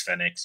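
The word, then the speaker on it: Fénix: I know a couple people were like, "Oh, everyone's saying his name wrong. It's Fenix.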